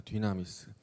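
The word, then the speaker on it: δύναμις: 권능이라고 말합니다.이 권능을 헬라어로는 뭐라고 하냐면 디나미스라고 읽습니다. 디나미스.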